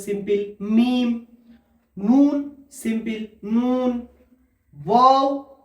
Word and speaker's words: واو: ওয়াও, ওয়াওটা উচ্চারণ হয় প্রথম মুখটি গোল থাকবে, তারপরে ওই অ উচ্চারণ হওয়ার পরে আবার ওই একই জায়গায় গোলে চলে আসবে।